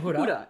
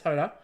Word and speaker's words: Hoda: Hoda, because you're going I'm used to saying Huda. Yep. So it's spelled exactly the same way, but it's Hoda.